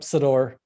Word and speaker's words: Sidor: Sidor? I never know how to pronounce. You got it right. For yep, Sidor.